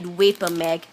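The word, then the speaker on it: VaporMg: special kind of magnesium they call it vapor mag vapor mg that's how it's spelled so move it to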